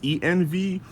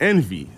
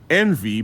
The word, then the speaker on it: ENV: When when I found out about them, I was like, "Is the name pronounced ENV or is it pronounced Envy?" So, I just got schooled tonight that it is in fact Envy, but you said there was a story behind that.